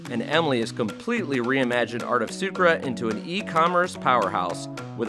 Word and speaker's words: Art of Sucre: Tell me about Art of Sucre, if I'm pronouncing that right.